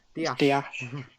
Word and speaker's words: Dias: Of course, I've just called him Ruben Dias, and we all know that's not his actual name, is it? Dias. As the Portuguese pronounce it.